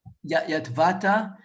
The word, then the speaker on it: Yotvata: Yotvata.